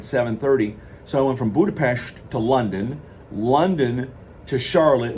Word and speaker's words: Budapest: factor, where I left Budapest. I always thought it was Budapest, but they pronounce it Budapest.